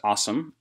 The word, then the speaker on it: OSEMN: Um, it is pronounced awesome and it stands for obtain, scrub, explore, model, and interpret.